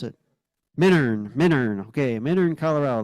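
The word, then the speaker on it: Minturn: it Miner Miner okay Miner Colorado the t is silent 1954 now we're back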